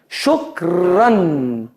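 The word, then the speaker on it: شكراً: Siempre nos obliga a pronunciar una nun.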